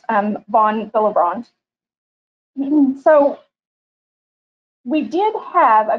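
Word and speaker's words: von Willebrand: contributions to hematology um and so it's actually pronounced um von bilibrand so we did have a code for this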